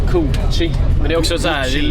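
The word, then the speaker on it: Cu Chi: Okej, just nu sitter vi på bussen på väg till Gucci låter det som de säger hela tiden men det heter Koochi.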